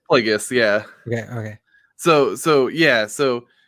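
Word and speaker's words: Plagueis: I always say Plagius because like because it's spelled like plague in that. Yeah. Okay. So how do you say it? Plagius. Plagius.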